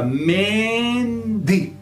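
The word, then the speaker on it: mendy: Me é nasal também, vai fazer com que o S se distenda e fica mendi.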